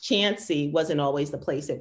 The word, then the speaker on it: Chauncey: And the narrator says Chance, but it's spelled C-H-U-N-C-E-Y. And the girl in the story says, but Chauncey, pronounced Chancy, wasn't always the place it was.